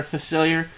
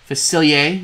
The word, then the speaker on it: Facilier: cards we've got a big version of Dr facilier facilier excuse me let me pronounce it right we have the two drop